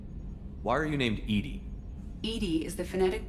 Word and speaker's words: EDI: a specific inquiry why are you named Edie Edie is the phonetic pronunciation of e that is an acronym for